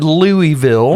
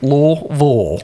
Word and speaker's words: Louisville: Yeah, It's not Louisville. No, or Louisville. No, it's two syllables. Louisville.